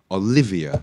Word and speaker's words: Olivia: it's Lily Lily Lily Lily Miranda Miranda Olivia Olivia yeah Olivia with the stress on the line